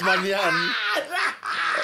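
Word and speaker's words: Maignan: I know it's Manian. Walter Sama Mike Nian. Manian. Mike Mignon.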